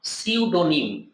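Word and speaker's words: pseudonym: name ইউজবা author তাকে কি বলা হয় ছদ্দনাম সিউডনিম স্পেলিংটা মাথায় রাখ সিউডনিম সিউডনি উচ্চারণ হবে সিউডনিবা তাকে কি বলা হয় বৈধ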